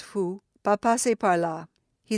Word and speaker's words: faut: He looked greatly excited as he called out to us, "Mesdames, mesdames," or "Madame," pronounced more as the other, "Il ne faut," pronounced fou, "pas passer par là."